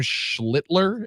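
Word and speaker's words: Schlittler: It was Cam Schlitler. Am I pronouncing his name correctly?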